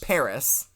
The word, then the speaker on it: Paras: right well I mean more commonly pronounced Paris ah you got to get the trill in there so who here who here